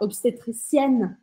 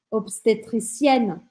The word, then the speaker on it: obstétricienne: E se for no feminino, eu vou pronunciar o N. E aí eu vou falar obstetricienne, obstetricienne.